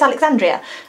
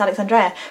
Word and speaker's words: Alexandria: it became alexandria and nobody can pronounce it right they always you know they look at it on the page and they're like oh it's alexandria and that's annoying anyway it's alex andrea but just call me